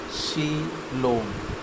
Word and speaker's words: coelom: A coelom, in Greek words seal, hollow money pronounced coelom, is a fluid-filled cavity between the alimentary canal and the body wall.